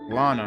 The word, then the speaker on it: Lana: namesake the Lana floodgates Lana huh rhymes with Donna but wasn't Rolo mentioned